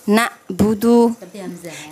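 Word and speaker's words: نعبد: Nah, ya ketika misalnya a'udzu ya kan, atau misalnya yang iyyaka na'budu, jadi dia bukan na tapi na'budu ya, seperti hamzah merubah harokat, itu merubah huruf ya, iya merubah huruf yang efeknya bisa merubah arti, dan itu sangat berbahaya, betul.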